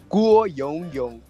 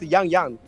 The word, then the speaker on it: 郭勇勇: Guo Yongyong. Guo Yongyong. Yongyong, not Yang Yang.